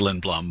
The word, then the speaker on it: Lindblom: go to uh well my grandfather who was born in Sweden said it was Lin Blum but you know I